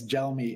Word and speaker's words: Gelmi: And by the way, yeah, it's Gelmi. It's like gelato. It's an Italian name.